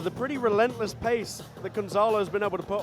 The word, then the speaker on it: Gonzalo: strong first round for Gonzaga. Yep. And a lot for Brandon to think about coming into the second round. Gonzalo, sorry, saying his name wrong.